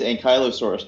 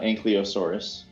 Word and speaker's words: Ankylosaurus: It's both. It depends on your region's pronunciation because it's a loan word.